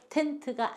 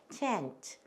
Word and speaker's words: tent: 그래서 텐트가 아니고 tent, tent 이렇게 돼요.